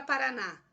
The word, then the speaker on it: Paraná: Olha a palavra Paraná. Paraná termina em A, não termina em A? Olha só o que eu disse aqui nesse primeiro quadrinho. Eu vou acentuar as palavras oxítonas terminadas em A. Tá aqui, ó. Oxítona terminada em A. Leva acento gráfico.